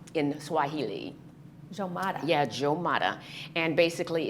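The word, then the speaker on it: Umoja: It's pronounced Jomada in Swahili. Jomada.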